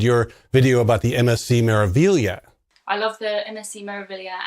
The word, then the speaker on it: Meraviglia: Yeah, it took me a while to pronounce Meraviglia, and I don't think you can say it without an Italian accent, like Meraviglia.